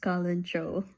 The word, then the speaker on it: Kalanchoe: So I just searched it and it's actually pronounced Kalanchoe.